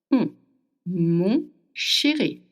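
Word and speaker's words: mon chéri: Here we have another semi vowel sound which is to make you want to make O with your mouth. O. Can you feel it? O. The air goes through the nose. M sherry.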